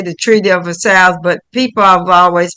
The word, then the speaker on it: Versailles: It's a French Versailles. word. Versailles. Yep.